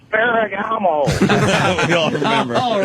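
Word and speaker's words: Ferrigno: I just wanted to let you know you're pronouncing it wrong. It's Lou Ferragamo.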